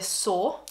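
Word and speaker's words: Soare: Anastasia Beverly Hills was started by Romanian born Anastasia Saw. I'm pretty sure that's how you pronounce her surname, in 1997.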